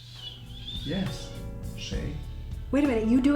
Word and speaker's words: 谁: This is just the right pronunciation for the character. Shay, it means who.